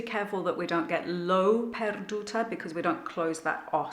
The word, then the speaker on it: L'ho perduta: It's always going to be O, and the H is silent. 1, 2, 3, 4. L'ho perduta, me meschina. So perduta, the du is the important syllable.